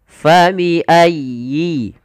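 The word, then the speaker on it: فَبِأَيِّ: Kemudian di lafal huruf ya bertasydid itu ada lembut di dalam pelafalannya, tekan. Ayyi, fa bi ayyi. Dan sempurnakan kasrah pada huruf ya-nya, jangan fa bi ayyi ala, tidak sempurnakan kasrahnya. Kita harus menyempurnakan daripada bunyi kasrahnya.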